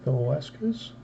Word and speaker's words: Velasquez: Our third card is Vince Velasquez. I always mispronounce that. The S throws me off after the Vela and before the Kez.